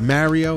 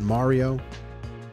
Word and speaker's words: Mario: Oh, and for the record, it's Mario, not Mario. I'm from New Jersey. Stop saying Mario. Even the movie says Mario.